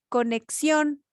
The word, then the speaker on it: conexión: Conexión, en este caso, sí tiene tilde y es una acentuación ortográfica, ¿no? Porque la mayor fuerza de voz o el golpe de voz viene en la última sílaba.